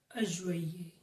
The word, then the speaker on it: juillet: So be very careful here. I have seen people often making a pronunciation mistake while pronouncing July in French. So it is completely different from its spelling, although if you follow the pronunciation rules of French, it's correct. So it is juillet.